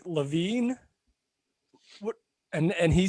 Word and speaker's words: Levin: Levin is not that bad. You had the right emphasis on the right syllable.